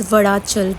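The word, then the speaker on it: Vazhachal: So the correct pronunciation is Vadachal, which we got to know.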